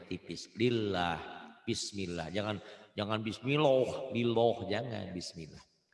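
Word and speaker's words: بسم الله: Kalau sebelum lafaz Allah ini barisnya di atas, ini bisa patah, bisa domah. Sebelum ya, ini lafaz Allah. Sebelum lafaz Allah, barisnya di atas.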